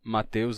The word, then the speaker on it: Mateus: ter duas grafias diferentes tem o caso do nome Mateus que pode ser com T com th ou com tth variações de escrita mas é sempre Mateus a pronúncia Então temos aí vários